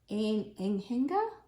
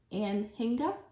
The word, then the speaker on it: anhinga: here hey and it said I cannot it's enena I've never seen that word we didn't look up how to pronounce that no but it's anhinga possibly um waterb bird very pretty yeah seabird